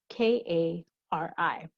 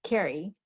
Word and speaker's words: Kari: spelling of the name k-a-r-i one person pronounces it carrie as in kerry sochalkey freed line but in high school i knew a person who's pronounced the same name kari kari mcauley a person's name